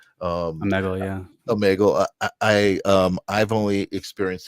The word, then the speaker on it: Omegle: But let's start talking about the Omegle.